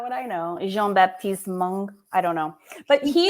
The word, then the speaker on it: Jean-Baptiste Monge: Jean-Baptiste Mongo. That's exactly right. How did you know that? It's Mongo. You have to like sing it at the end.